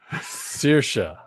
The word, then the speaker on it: Saoirse: I just want you to pronounce this name for me, Greg. Oh, what have I said? Hold on. Saoirse Ronan. Saoirse.